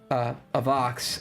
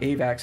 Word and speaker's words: Avox: I don't even know if I should dox myself with this, but we named it Avox, and now everybody's just pronouncing it Avax, and I'm correcting them, and they're like, you don't know what you're talking about.